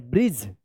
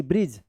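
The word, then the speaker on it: bridge: ब्रिज ब्रिज ठीक है। इसके ऊपर एक यह भी रूल है कि इस जी का ज उच्चारण इसलिए हो रहा है क्योंकि लास्ट में जी के बाद इ है।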